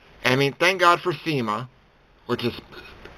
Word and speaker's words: SEMA: I mean, thank God for SEMA, which is spelled S-E-M-A. I know it sounds like I'm saying Cena. I mean SEMA, not the wrestler.